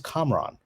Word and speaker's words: Kamran: happens to me every day my name is komron no one calls me that and so i